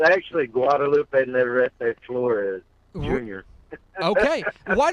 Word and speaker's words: Guadalupe: Guadalupe is that correct yes sir it's actually Guadalupe terrific lawyer okay and why don't you just